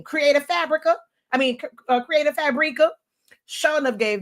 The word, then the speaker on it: Fabrica: So I be saying Fabrica, but I listened to an ad one day and I'm guessing I've been saying it wrong for years and it's Creative Fabrica.